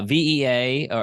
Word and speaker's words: VEA: little bit but uh vaa or vea is how you pronounce it um you do executive